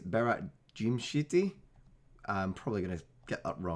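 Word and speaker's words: Berat Gjimshiti: I have looked at how to pronounce this. It apparently is Berat Jimshiti.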